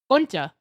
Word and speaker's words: concha: Is that what you want me to pronounce? Kcha. Koncha.